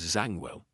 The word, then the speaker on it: Zangwill: So Zang Philill or something like that but uh it's the internet says Zangwell.